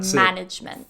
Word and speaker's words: management: the stress to management it actually goes on the first syllable management first syllable yeah okay great next